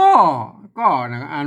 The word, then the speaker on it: ก็: นะ ครับ อ่า ก็ ก็ อ่าน มา ก่อน นะ ครับ แต่ บริบท การ เขียน คำ นี้ ใน ข้าว ใน การ ลง แม่ ยัง สบาย นะ เป็น วรรณกรรม เปิ้ล ออก เสียง เป็น ก้อ นะ ครับ ก็ แปลก ดี